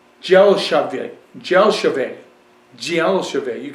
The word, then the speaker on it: Dzelshavi: this is a red dry wine 2019 it's pronounced gel shave gel shave gel shave you can say zel shave or delave but gel shave the DZ together